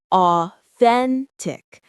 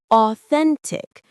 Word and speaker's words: authentic: The stress is on the middle syllable. Authentic. The th sound is the same as in think. The first part a sounds like the or in four. Authentic.